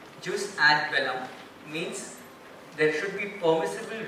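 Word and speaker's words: jus ad bellum: a space v e l l u m juice ad Bellum means there should be permissible reasons for going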